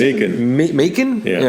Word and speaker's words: Macon: Mason. Macon. Macon? Yeah. Yeah, rhymes with bacon.